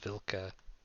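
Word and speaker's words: вилка: onto the upper deck minor note it's actually pronounced vilka okay that means fork and russian fork um almost it's a v anyways go on sorry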